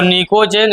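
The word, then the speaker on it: pnictogen: नाम जोड़ लोगे, इसको निकोजेन, इसको चैल्कोजेन। निकोजेन और यहाँ कर लेना चैल्कोजेन, इसको कहते हैं चैल्कोजेन फैमिली। निकोजेन, चैल्कोजेन कर लिया ना, बगल में लिख लो, पी साइलेंट है।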